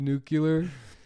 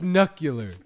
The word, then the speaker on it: nuclear: They said George Bush said it wrong when he said nuclear. No. No, they were right. He did say it wrong. Yeah, he did say it. It's nuclear. It's nuclear. Nuclear, like my knuckles.